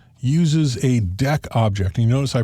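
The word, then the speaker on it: deque: and the default type of Q uses a deck object and you notice I pronounced that deck instead of DQ because DQ might seem like a verb means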